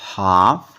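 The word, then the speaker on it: half: था एफ से पहले आया एल भी तो साइलेंट होता है जैसे सी ए एल एफ काफ एच ए एल एफ हाफ डब्लू ओ एल F Waqf clear यहां से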